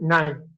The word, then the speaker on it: KNIME: Like I said, nine is open source, so you can go online and just type nine. It's a German word, so the K is silent.